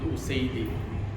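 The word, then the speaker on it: الأسيدي: chamado Hanzala ibn Rabi' al-Usaydi. O nome dele é pronunciado al-Usaydi ou al-Usaydi. Os dois jeitos estão certos de pronunciar, mas o mais certo é al-Usaydi, ou seja, com al-ya al-mushaddada.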